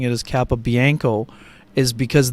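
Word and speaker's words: Capobianco: I'm pronouncing it is Kappa Bianco is because that's how he pronounced it during the intermission uh when he and Mason Appleton visited the NHL office so we've been using Kappa Bianco throughout the course of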